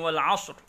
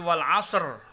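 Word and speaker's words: وَالْعَصْرِ: Wal 'ashr. Kita wakafkan di sini dengan huruf ra-nya jangan sampai tidak kita lafadzkan, dan juga jangan sampai kita membacanya menjadi wal 'asr. Nah, itu tidak boleh juga.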